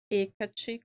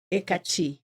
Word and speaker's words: Hecate: O meu Instagram, ele é o espaço Hecate com H e o T no final é mudo.